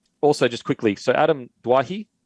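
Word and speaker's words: Doueihi: just quickly so Adam duahi I think it's dwahi that's how you say it now there's reports that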